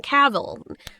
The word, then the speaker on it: Cavill: Cavill, sorry, I know people say I keep pronouncing his name wrong. Cavill.